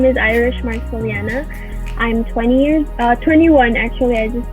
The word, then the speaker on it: Marcellana: So, Miss Irish Marcellana. Thank you. Thank you Did I for pronounce it having me.